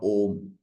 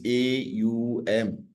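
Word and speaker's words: Aum: mispronunciation it is not om please it is not om it is it is a u m it is not om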